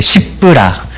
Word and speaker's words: 십브라: 네, 발음 조심해야 돼. 십브라.